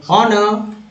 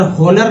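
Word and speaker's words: honour: Next है over हाउल्ड, over howler, over heaped, over heated, over ऑनर, over hopping. Owner होनर नहीं बोलना है, ऑनर।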